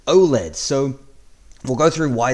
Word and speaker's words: OLED: the answer is b o l e or generally as you would pronounce it OLED so we'll go through